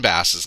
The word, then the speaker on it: Bass: It is Dick Bass, and it is also Glenn Bass. Glenn Bass's name is Bass.